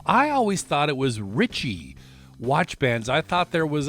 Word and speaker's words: Ritche: realized that it's it's there's no ey in there so I believe it's pronounced Rich you may hear uh Rish you know there's probably